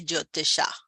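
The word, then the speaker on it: Jyotisha: Uh Sanskrit which is more classical like uh the old ancient language uh usually if you're doing the correct pronunciation you would say jotisha.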